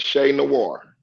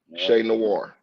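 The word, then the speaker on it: Che Noir: Yeah, her name is Shay Noir. CHENOIR. How you spell it? It's CHE CHE and it's space NOIR. Shay Noir.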